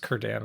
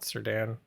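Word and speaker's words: Círdan: I don't I'm pretty sure it's pronounced Kurdan, not Serdan.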